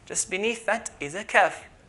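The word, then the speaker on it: ك: Just beneath that is a kaf. Kaf, which is like a K in English.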